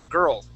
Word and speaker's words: girl: trick yeah yeah so instead of saying girl like uh girl and and uh trying to swallow that that L we want to pronounce that L girl girl okay so the